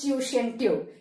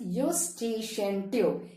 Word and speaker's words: Eustachian: not pronounce it is tuition tube it's pronounced as you station tube e is a silent letter all right so e u s t a c h i a n is pronounced as eustachian